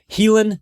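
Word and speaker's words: Haelan: your mind simple right helen 951 it's pronounced it's it's pronounced healing it's spelled differently h a e l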